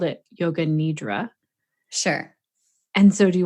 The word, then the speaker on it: nidra: And then nidra. Nidra. Yeah, so the I sound is it's a short I, just eh. And then the A at the end is it's long, drawn out.